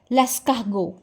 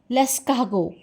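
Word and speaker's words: Lascaux: And next is लेस्कागो। लेस्कागो। आर का mostly time जो sound होगा वह ह रहेगा। ह लेस्कागो एंड टी is silent here लेस्कागो। लेट me tell you कि फ्रेंच में सी एच इज़ नेवर च।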